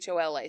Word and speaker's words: Warhola: The pronunciation changed a little bit. So it's Warhola. So he eventually took the A off. Okay. And went by Warhol instead of Warhola.